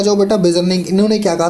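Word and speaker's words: Beijerinck: तो आपको बोलना है बेजर्निंग। इनकी स्पेलिंग देख लो जरा, BEIJERNCK, ठीक है।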